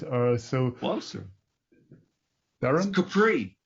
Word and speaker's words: Capri: uh so well sir capri this capri off the amalfi coast right near sorrento capri in italy good so or for the europeans it's capri so how the germans would pronounce it however i'm afraid now